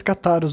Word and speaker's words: cátaros: No programa anterior tinha momentos que eu falava cátaros, depois cátaros, né? A pronúncia certa é cátaros, mas várias vezes eu errava, né?